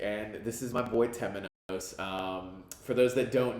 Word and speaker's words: Temenos: Temenos.